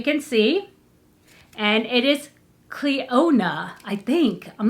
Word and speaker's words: Clionadh: this is a oh cleo nah it does say it it does show you how to pronounce it cleona yeah that's i did it right hey so that's that